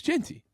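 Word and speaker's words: Jeanty: It's Genty. Genty. I think it is Genty. Yeah. Hard to argue with Ashton Genty.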